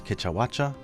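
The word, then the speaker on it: Kecha Wacha: Next up is one of the more favorite names to say, which is Kechawacha. In Japanese it's the same, it's Kechawacha, and its nickname is Kienko, which means the curious or strange monkey fox, which it definitely moves like.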